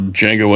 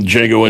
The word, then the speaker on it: Django: And that's where in Django Unchained he runs into the guy at the bar and he asked him to spell Django and says the D is silent and the guy's like, "I know."